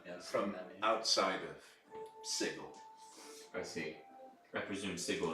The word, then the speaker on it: Sigil: city that you see sprawling up around you is Sigil, yes. Oh yeah, did you were able to see the Yeah. giant? Yes, I see. Okay. Apparently they don't like pronouncing it with a hard G.